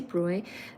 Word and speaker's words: Broglie: So this is spelled as Broglie, Broglie, but really it's Louis de Broglie.